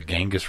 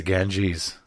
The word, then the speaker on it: Ganges: i told the teacher he's pronouncing it wrong he called it the genghis river and i'm like it's the ganges i'm like do you watch anything do you